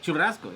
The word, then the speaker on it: churrasco: Churrasco.